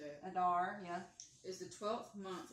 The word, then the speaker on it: Adar: Adar, yeah.